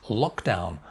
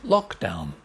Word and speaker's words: lockdown: weak contagious next word lock down two syllables lock down dirt lock down main stress here lock down lock down